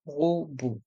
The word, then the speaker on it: robot: voyelles E et U, et le T de robot est muet. L'aspirateur robot.